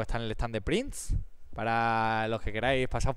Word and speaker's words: Prnze: Prince se escribe raro sin i con Z. PRNZE.